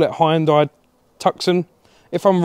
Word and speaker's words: Tucson: No, it's Tucson, not Tuscan. I've been calling it the wrong name.